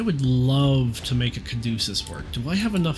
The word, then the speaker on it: caduceus: Uh I'm sure I'm saying caduceus wrong. Caduceus? Google, help. Let's use the Google Wikipedia real fast. Let's go back to Google and try just putting pronunciation in. Caduceus. Oh, no. I was saying it right.